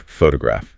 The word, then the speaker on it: photograph: When we say photograph, the rhythmic punch is on the very first syllable, P-H-O-tograph. Because that first O carries the primary stress, it is allowed to maintain its full, clear dictionary sound, P-H-O.